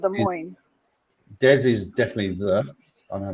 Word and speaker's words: Des Moines: How do you pronounce the capital of Iowa? Is it Des Moines?